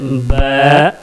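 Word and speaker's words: باء: दोनों होठों के अंदरूनी तली को मिला करके बा प्रोनाउंस करेंगे तो सही बा निकलेगा।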